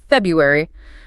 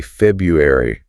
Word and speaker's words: February: Take the month February. How do you say it when you're just rushing or chatting with a friend? I probably say February, or even just February. Exactly. That first R sound often disappears entirely.